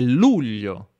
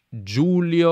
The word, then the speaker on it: luglio: giulio cesare giulio cesare ma il mese e luglio non giulio o giulio questo è un errore comunissimo è un errore molto molto comune le per gli stranieri magari magari anche voi dicono giulio il mese di giulio giulio giulio giulio ma no il mese di luglio scrivete nei commenti se